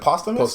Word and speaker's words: posthumous: How do you say posthumous?